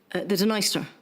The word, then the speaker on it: Dniester: Black Sea near adessa the dener yes usually pronounced needs to finally flowing through Western